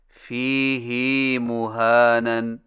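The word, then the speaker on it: فيه مهانا: Number 9، فیہ مہانن میں فیہ کی ہا کو کچھ کھینچ کر پڑھیں، یعنی اس طرح فیہ مہانن. ہماری قراءت روایت حفص میں اسے فیہ ہدن کی طرح فیہ مہانن پڑھنا صحیح نہیں. صحیح تلفظ کے ساتھ ادا کیجئے.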